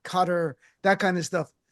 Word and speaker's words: Qatar: Because every time um I'm watching this, everyone pronounces it guitar. What's How do you pronounce the name of that country? Does anybody have a definitive answer? I've been there several times. The real way is like cutter with like a It's weird.